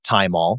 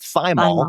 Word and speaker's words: thymol: But I call it thymol because it's derived from the herb thyme. Some people call it thymol because it's spelled Thymol.